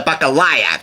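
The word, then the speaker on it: balalaika: This highlights one of Russ's most signature and delightful instruments, the bacalea, or how do you pronounce it? The bacalaya, that's how you pronounce it.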